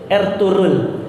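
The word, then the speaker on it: Ertuğrul: juga ada film namanya dirilis ertugrul atau Bacanya adalah dirilis er turun Siapa itu Er turun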